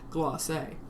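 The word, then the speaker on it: glacé: United States of America I've never heard anyone say gloss that's the actual term if you find the pre-made stuff in the grocery store it's spelled out with a little accent over the E so you know you're supposed to say gloss but we're just going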